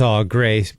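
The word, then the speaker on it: Au Gres: That's Aw Gray, spelled like we do in Michigan, Augres, but pronounced Gray.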